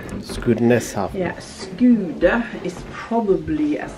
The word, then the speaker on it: Skudeneshavn: Can I ask you, how do you actually pronounce the town name? Skudeneshavn. Skudeneshavn.